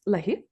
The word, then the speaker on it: Lahiff: Is it Leah? It is. Yeah. Well, yeah, that's perfect. Yeah, that's a good pronunciation there.